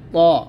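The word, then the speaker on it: ط: এটা আমরা অনেকে তোয়া বলি, তো এরকম তোয়া বলবেন না, এটা হচ্ছে ত, মোটা করে উচ্চারণ করবেন, ত এরকম, ত।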